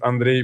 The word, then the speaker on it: Andrei: cannot pronounce my name they just canot like do it Andre Andre Andre like Andre Andre or or Andrew I'm like no I'm Andre well luk was saying